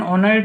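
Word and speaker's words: Honert: Von Dane ऑनर्ट हैं, वैसे तो HO है तो H साइलेंट होता है यहाँ पे।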